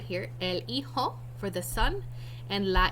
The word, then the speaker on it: hijo: J's are pronounced like H's in Spanish, and H's are silent. So it's pronounced hijo, not hijo, or however else you would try to pronounce it.